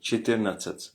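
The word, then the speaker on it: четырнадцать: C'est pas cheti mais chetir natat.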